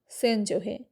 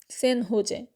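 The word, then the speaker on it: San José: জায়গাটার নাম সেন জোহে, উচ্চারণ সেন হোজে।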